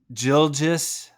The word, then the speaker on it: Gilgeous: think I think Shea gildges because there's no R in there I'm trying to pronounce